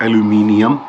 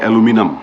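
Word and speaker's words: aluminium: बहुत सारे प्रोनाउंसिएशंस हैं, जैसे कि इंडिया में बोलते हो आप एल्यूमिनियम, यहाँ पे बोलते हैं एल्यूमिनम।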